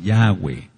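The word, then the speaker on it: Yahweh: de porque sí es yahwe estás bien así yahwe pronunciando yahwe entonces en Génesis 171 dice que era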